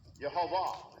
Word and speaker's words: Yehovah: Yehovah is the name. That's how you pronounce it. Pretty interesting. I got that from a Jewish guy.